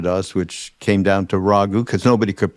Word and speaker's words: Raghu: Neem Karoli Baba named me Raghvendra Das, which came down to Raghu, because nobody could pronounce that at all. Raghu's easy. No, not the Italians' pasta sauce. No, it's a Raghu from India.